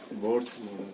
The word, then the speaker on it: Bohr: ठीक है, जिसमें एच साइलेंट होता है, फिर भी किसी को मन करे खींच दीजिए, मन करे तो साइलेंट कर दीजिए। अगर एच को साइलेंट कर देंगे तो बोर पढ़ेंगे, अगर उसको साइलेंट नहीं करेंगे तो बोहर्स पढ़ेंगे।